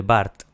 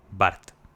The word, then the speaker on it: Burt: Barth. O Burt. A lo mejor se pronuncia Burt y no Barth.